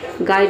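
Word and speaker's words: guide: जी का ग हो गया। यू आई का हो गया आई। डी का हो गया ड। ई साइलेंट है क्योंकि वर्ड के अंत में आया है।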